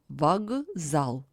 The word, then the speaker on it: вокзал: The voiceless K stands before a voiced Z. That's why it is changed in voiced pair G. Besides, the vowel O is not under stress, That's why it is pronounced as A. So the word is pronounced as вокзал.